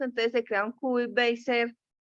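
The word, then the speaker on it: Bézier: Este es el efecto, entonces se crea un cubic Bezier o Bezier, no sé cómo se pronuncia, que tiene estos valores.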